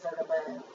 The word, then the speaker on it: bergamot: Probably Bergamot. Put that T silent.